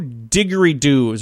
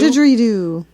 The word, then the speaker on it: didgeridoo: not have a shotgun he was carrying two diggery dudes or how do you say it did you didgeridoo it's an interesting sounding uh instrument it is